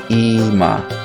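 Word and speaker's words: אמא: Notice that long E sound is transliterated with an I, Ima, okay, Ima.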